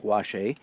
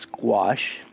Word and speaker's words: gouache: fresh tube of white gouache or gouache a for those of you who don't know how to pronounce the word like I didn't for many years it is not wash a it squash and let's pick up